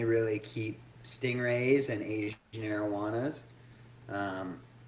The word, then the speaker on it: arowana: Arowana? Is that Yeah. it? Arowana.